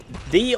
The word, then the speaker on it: ye: The Old Feller. Ye wasn't pronounced ye, it's pronounced simply the.